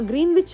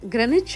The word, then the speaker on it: Greenwich: கோடு அப்படின்னு நம்ம சொல்லுவோம் தமிழ்ல நாம கிரீன்விச் அப்படின்னு படிச்சிருந்தாலும் சரியான உச்சரிப்பு கிரனேஜ் அப்படிங்கறதுதான் இதுதான் பூகோளம் முழுவதையும் மேற்கு கிழக்கா